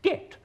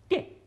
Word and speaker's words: debt: should say dubbed, or det when he should pronounce debt, D-E-B-T, not D-E-T.